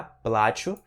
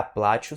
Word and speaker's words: плачу: No primeiro caso, я плачу, sílaba tônica no A, я плачу significa eu choro. No segundo caso, я плачу, sílaba tônica no U, significa eu vou pagar, tá?